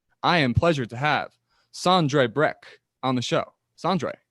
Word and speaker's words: Sondre Brekke: And I call you Sondre Brekke with my American accent, but if I'm correct, it's Sondre Brekke, or is it?